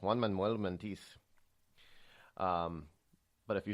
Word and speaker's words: Juan Manuel Montes: His name was Juan Manuel Montes. You have to say it really fast. Juan Manuel Montiz.